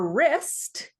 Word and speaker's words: wrist: Swedish still spell WR in English but the W ceased to be pronounced 1450 to the 1700s so at one point